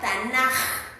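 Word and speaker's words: תנך: Pero se pronuncia en hebreo tanaj, ¿no?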